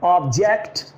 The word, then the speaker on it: object: अब इसे आप समझ लें कि ये जो पहला वर्ड है, जब हम ऑब्जेक्ट की बात करते हैं तो जो स्ट्रेस है, इट इज कॉल्ड स्ट्रेस, जोर. जिस साउंड पर हम जोर डाल रहे हैं वो है ओ, ऑब्जेक्ट। और जब हम इसे वर्ब की बात करेंगे तो जो स्ट्रेस है वो ओ पर नहीं बल्कि जे पर है, जे ई पर है, जेट पर है।